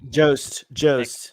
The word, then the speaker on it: Jost: Sorry, Jost. Mick. Mick. Not Mick Nick. It Jost. rhymes with ghost. Mick Ghost. Yeah. Jost.